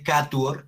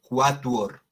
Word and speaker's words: quatuor: No se dice catuor, sino que se lee quatuor.